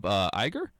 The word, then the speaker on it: Iger: Yeah, well, if it's pushing for a sequel right now, I mean, Walt Disney Company CEO Bob Iger? Is that how you say it? I think it's eager.